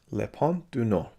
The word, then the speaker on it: Le Pont du Nord: was directed by jacques rivett and is called lepan du no i believe that's how you pronounce it the north bridge is the english